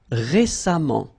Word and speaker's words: récemment: So as I told you, even if you write it EMMENT, phonetically it goes like amant, patiemment. All right. Récent, same rule. Récemment, récemment, récemment.